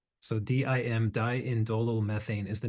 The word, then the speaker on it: diindolmethane: pronounce that word do you know how to pronounce that word It's dindolmethane. So, DIM diindolmethane is the name of this this molecular form